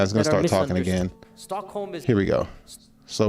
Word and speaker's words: Stockholm: Stockholm is.